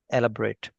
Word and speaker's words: elaborate: The pronunciation of elaborate changes to एलाबोरेट, एलाबोरेट, एलाबोरेट। रेट होता है ना, वही लगा सकते हैं, एलाबोरेट, एलाबोरेट, ठीक है?